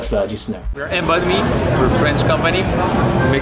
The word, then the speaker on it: Embodme: We're Embodme, we're a French company.